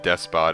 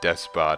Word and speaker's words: despot: There was one episode where I misspelled despot as or mispronounced despot as despo the entire time. Can you really blame me? It's like depot is not depot.